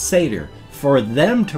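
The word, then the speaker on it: Sayter: It looks to us like a Seder, or for short, he will go by Seder, S-A-Y-T-E-R. But for us, it's just pronounced Seder.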